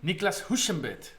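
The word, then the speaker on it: Niclas Huschenbeth: How do you pronounce his name again? Niklas Huschenbeet.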